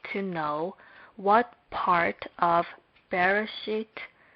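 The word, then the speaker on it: בְּרֵאשִׁית: We will be able to know what part of Bereshit bara Elohim is stressed. First, there is a stress on the last syllable of Elohim as it says on the board.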